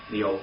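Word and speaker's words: מאות: Meot, actually, it's got a PH sound at the end of it. You want to write a little H in there. That's the correct pronunciation of it.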